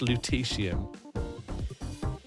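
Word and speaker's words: lutetium: Luteesium. Okay, thank you for the pronunciation guide. So, it's actually pronounced luteium.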